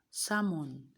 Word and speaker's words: salmon: We have almond, we have become, we have quam, we have salmon, we have arms. Do you get it? So which of them is the silent letter? The answer is L.